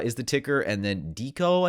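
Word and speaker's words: DIKO: the ticker and then Deco I think is what it's pronounced d-i-k-o um these are a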